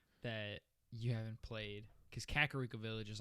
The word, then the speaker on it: Kakariko: think i i think i didn't know that it had another eye in it so i just said like carrico or something oh my